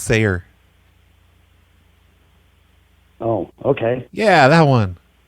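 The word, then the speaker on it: Saar: this subdivision what do you it's s-a-a-r it's pronounced sayer some people pronounce it sardrive but they're wrong it's pronounced sayer oh okay yeah that one anyway i was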